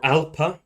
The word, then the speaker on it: alpha: It's literally because A is the first letter of the alphabet, and alpha, or alpa, the old pronunciation.